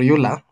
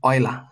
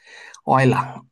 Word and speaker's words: Euler: So the oil's formula or ula if you are African like me you will just pronounce it as ula but anyway the correct pronunciation is oiler he was a there was German German guy oiler so oil's formula is